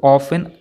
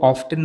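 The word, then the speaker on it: often: है अक्सर ये जो ऑफेन शब्द है ऑफ्टन में टी साइलेंटेड ध्यान रखिए ऑफ में 30 साइलेंट है ऑप्शन मिट्टी इसको ऑब्टेन मत पढ़िएगा ये ऑफेन है वह अक्सर लड़ते थे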